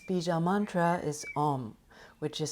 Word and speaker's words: Om: And its bija mantra is Om, which is spelled A-U-M, which we will chant together at the end of this session.